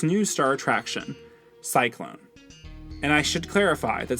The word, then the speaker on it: Psyclone: its new star attraction cyclone and I should clarify that Cyclone is spelled PS y c o n e as in a little bit of psycho and a little bit Cyclone marketed as the ultimate